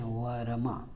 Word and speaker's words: वर्मा: से पहले आएगा, इसीलिए इसका उच्चारण हम देखें वरमा, पहले र बोल रहे हैं फिर म बोल रहे हैं, ये आधा होता है।